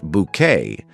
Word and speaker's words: Bucket: Insisting her surname be pronounced bouquet, she tirelessly hosts candlelight suppers and attempts to impress vicers, ladies of the manor, and anyone she considers important.